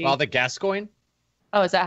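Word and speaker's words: Gascoigne: why I keep calling him father G father gascoin oh is that how you say it okay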